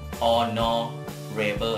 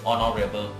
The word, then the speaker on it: honorable: คำ ใน นี้ ครับ ตัว H นะ ครับ จะ ไม่ ออก เสียง ออก เป็น or นะ ครับ honesty นะ ครับ honesty นะ ครับ เ่อ honest นะ ครับ and honorable นะ ครับ honorable honorable and alls นะ